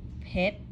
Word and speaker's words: ເຜັດ: Do you hear the difference between Lao and Thai? Pit. And Thai, pit. But both means spicy. And this one is pit, pit, pit, pit, like a friend's name, pit.